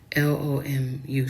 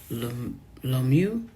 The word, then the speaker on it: Lomu: It's Lomu. So Lomu.